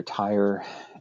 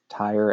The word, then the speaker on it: Tyre: And the two principal ones are Tyre and Sidon. I'm using the English spellings and pronunciations of those names. Tyre and Sidon.